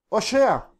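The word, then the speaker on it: הושע: oseas Qué es oseas oseas en hebreo es oshea Osa es oseas y es la palabra hebrea 1954 y se escribe de esta manera oshia oseas literalmente significa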